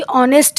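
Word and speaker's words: honest: सकता है क्यों क्योंकि ऑनेस्ट है तो एच से लिखा हुआ लेकिन जब हम उसको प्रोनाउंस कर रहे हैं तो उसका प्रोनंसिएशन आ रहा है ओ से तो हम क्या करेंगे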